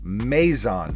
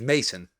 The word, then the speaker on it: Maison: I think the accurate pronunciation is Maison. Maison. Paisano. It's not Italian, though. No, it's not. I think it's Mason. No, I don't think it's Mason. Yeah, it's how like some dude from Ohio pronounces it. This is a Parisian brand.